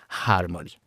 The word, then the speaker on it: harmony: como hospital o helicóptero, mientras que en inglés hay una H aspirada, harmony. Es muy suave, muy sutil, pero en español no existe, con lo cual vamos